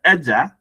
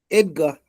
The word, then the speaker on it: Edgar: But for uh Edger for instance, please how do you pronounce your name? Let me not I don't want to pronounce it long wrongly again. Edgar.